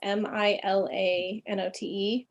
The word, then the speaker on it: Milanote: And anyway, but there's one called, I'm not sure how to pronounce it. It's like Milanote or Milanote. It's Milanote.